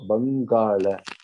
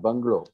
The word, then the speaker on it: Bangala: So, Bangala, not Bungalow. Okay? It's not Bungalow. That's not the pronunciation. We have to say Bangala.